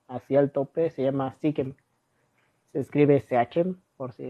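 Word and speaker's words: Seachem: Sí, hay muchas marcas, pero la premium, la que todos tienen así al tope, se llama Sikem. Se escribe CHM, por si lo quieren buscar.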